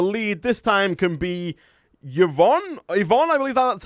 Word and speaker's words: Yvonne: The lead this time can be Yvonne, I believe that's how it's pronounced.